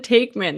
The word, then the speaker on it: Taekman: is Kristen Taekman.